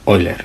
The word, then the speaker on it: Euler: era alemán pero que en alemán no se pronuncia euler sino que se pronuncia hoy leer igual que igual que